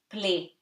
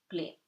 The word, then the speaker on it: plaît: S'il, vous, again, OU gives you OU, plaît, AI gives you A, T is not read.